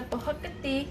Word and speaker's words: Prohok Ktiss: So before we get started making the Prohok Ktiss, did I say it right, hon?